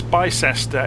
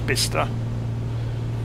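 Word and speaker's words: Bicester: worth having a look around actually so that's bista over there it's bisester it's spelled it's actually pronounced bista and that will be Banbury as we're approaching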